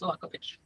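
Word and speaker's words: Saković: So yeah, the C has a little thing on it, but not in English. So it's Sakovich.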